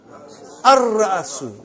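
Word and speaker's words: الرأس: How will you pronounce? Ar-Ra'asu. Not Al. Ar-Ra'asu.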